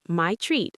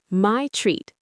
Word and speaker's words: my treat: want to pay, say my treat so there's no confusion. Absolutely. Now let's practice pronunciation. This one is a bit longer. My treat. 2 simple words, but make sure to stress treat.